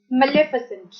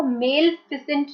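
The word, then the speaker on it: maleficent: First word है मेलेफिसेंट। इसकी pronunciation मैंने लिखी है, इसको मेलफिसेंट नहीं बोलना है, मेल नहीं है ये, मेलेफिसेंट।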